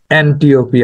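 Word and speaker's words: Antiope: চেয়েছিল বা করতে লেগেছিল এন্টিওপি আসলে হবে এটার গ্রিক উচ্চারণ হিপোলিটাস ছিল থিসিয়াসের সন্তান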